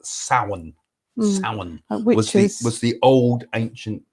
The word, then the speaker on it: Samhain: originally a thing called it's spelt samhain but it's pronounced sauen which was the old